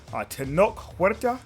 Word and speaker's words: Tenoch Huerta: Submariner, played by, I think his name is Tenoch Huerta.